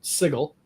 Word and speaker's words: Sigil: what they called it, Sigil. They did the hard G.